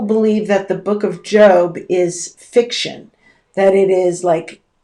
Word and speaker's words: Job: That word, J-O-B, usually is pronounced job.